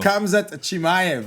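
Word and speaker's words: Khamzat Chimaev: So Kamzat Chimayv.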